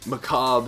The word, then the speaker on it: macabre: It may seem odd in such macabre surroundings, which that is how it's actually pronounced. It's a weird word.